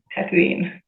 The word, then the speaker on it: Tatooine: Tatooine.